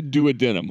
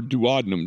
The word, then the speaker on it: duodenum: That's the duodenum or duodenum, depending on how you want to pronounce it.